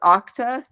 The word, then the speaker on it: Okta: currently a senior developer Advocate and is it pronounced OCTA it is pronounced yeah all right so at